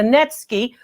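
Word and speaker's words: netsuke: like ivory to me a net ski that's what those two holes are for it's spelled natsuki but it's a netsky okay and then it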